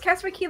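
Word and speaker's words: Castaway Cay: It's Castaway K. Lookout Key. I'll get it eventually. Yeah. Castaway Key. Castaway Key. Castaway Key. Lookout K. No, it's Castaway Key. Lookout K. Right? It's Key everywhere, I think.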